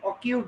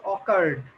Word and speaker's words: occurred: The flood had অকিউড না, এটা হচ্ছে অকার্ড।